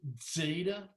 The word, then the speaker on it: zeta: Some people pronounce it DZ, Zeta. I've just gone to a simple Z sound.